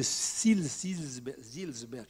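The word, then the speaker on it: Seelisberg: propositions qui sont devenues les 10 points de Silsberg, il faut prononcer.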